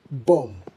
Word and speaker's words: bomb: The reason, the final B is pronounced due to over-reliance on spellings, but the correct way to pronounce this is bomb. Bomb. Now, why bomb? Well, the B at the end is silent, aligning with similar words you might have come across like comb and climb.